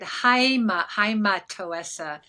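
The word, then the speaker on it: αἱματόεσσα: Yeah, and just, I'm going to correct your one pronunciation, the first word, haimatoessa, because there's a little tiny rough breathing, and haima is bloody.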